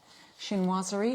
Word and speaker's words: chinoiserie: Chinoiserie is the pronunciation.